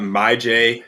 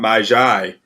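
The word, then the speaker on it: Myjai: all right next up here we got my j sanders that is how you pronounce it not my xy as i've been saying for months as i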